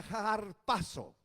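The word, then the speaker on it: harpazo: o y se pronuncia la H se pronuncia en griego como una jota arrastrada se pronuncia jar paso y significa sencillamente trasladado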